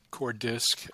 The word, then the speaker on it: CoreDisc: Yeah, I usually pronounce it core disk, although you can separate the O's into core disk because it's from coordination is where that opener comes from.